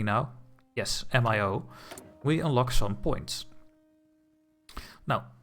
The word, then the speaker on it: MIO: Yes, MIO.